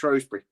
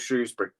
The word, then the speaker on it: Shrewsbury: sometimes pronounced Shrosbury, but that pisses me off. Um, but it's called Shrewsbury and um it's genuinely a standing law.